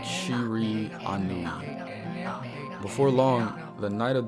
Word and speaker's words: Shiranui: Kind of hard to pronounce that. It's like Shiri Anui.